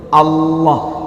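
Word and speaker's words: الله: Maksudnya kayak kita nyebut Allah, tetap la, huruf lam, bukan pakai w, bukan dimonyongin. Au, kalau au ada huruf apa? Wa atau w. Allah, Allah, Allahu Akbar, Allah, bukan au, nggak monyong.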